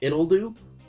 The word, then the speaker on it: Ittle Dew: a little title called it do uh okay like it spelled like little but with no l and then do is d e w so it's just kind